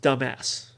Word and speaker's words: Dumas: was the Dumas brothel that's pronounced dumbass oh no only one